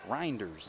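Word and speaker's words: Rynders: I believe is still out there is it you know I actually checked that that's number one right reinders that's how you pronounce it r-y-n-d-e-r-s blinders Bennett gives it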